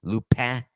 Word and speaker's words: Lupin: Lupin is how to say it.